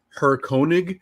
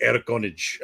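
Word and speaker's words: Herr König: Was Erkonich. Like I was like Her Koenig. No, it's like Erkonich.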